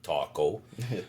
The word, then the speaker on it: TKO: Taco is my indigenous name, but it's uh it's not spelled like taco. It's TO all capital letters. Like technical knockout. Yeah, I like technical knockout, but it's uh it's pronounced taco.